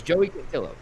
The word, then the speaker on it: Joey Cantillo: Once I see it phonetically, I'm good. Okay. Like, it's Joey Cantillo.